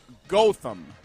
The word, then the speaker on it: Gotham: It is Gotham. Gotham is how we pronounce that.